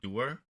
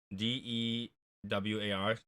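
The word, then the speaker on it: Dewar's: So, we got this, I believe it's pronounced Dewar. D-E-W-A-R.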